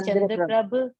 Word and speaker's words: चंद्रप्रभ: सर इसमें ऐसे 3 तीर्थंकर के नाम है जो जनरली लोग गलत प्रोनाउंसिएशन उसका करते हैं, जैसे एक अपने हैं पद्मप्रभ, एक है चंद्रप्रभ, और एक है अरनाथ।